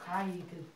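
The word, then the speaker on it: guide: 보통요, 이렇게 G 다음에 U, I로 이렇게 들어가는 것들은요 보통 I로 발음하시는 게 나아요. 아이. 알겠죠? 가이드.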